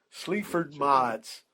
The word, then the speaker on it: Sleaford Mods: it's spelled Sleaford, next word Mods, MODS. Sleaford Mods.